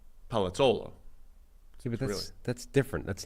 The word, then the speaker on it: Palazzolo: Palazzolo? Palazzolo.